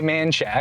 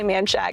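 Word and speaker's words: Manchaca: right off of manack I know it's spelled menaka but we say manshack the locals say manshack it's a great area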